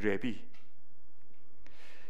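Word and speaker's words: לֵוִי: 레위, 직역하면 레비입니다. 그때 발음은 레비.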